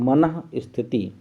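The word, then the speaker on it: मनःस्थिति: मन के बाद विसर्ग है, फिर स्थिति लिखा है, इसको हम लोग पढ़ते हैं मनः स्थिति।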